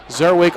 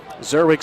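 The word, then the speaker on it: Czerwic: Zerwig spelled with a C, C-Z-E-R-W-I-C.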